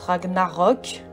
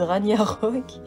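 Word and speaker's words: Ragnarök: assez intéressant parce que ça se prononce ragnarok j'ai horreur des gens qui disent ragnar punk mais tout ça c'est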